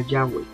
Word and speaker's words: Yahweh: en cuanto a que la pronunciación más correcta sea yahwe más bien únicamente de